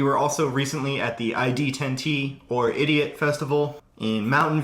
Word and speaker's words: ID10T: headliner came on, that it is not pronounced Idiot Fest. It is pronounced ID10T, as in D10, as in D&D, as in it was